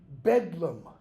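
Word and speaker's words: Bedlam: day being called nickname bedum that comes from the name Bethlehem its pronunciation was just shortened because the th was the bethleem betham became a d okay the caretakers the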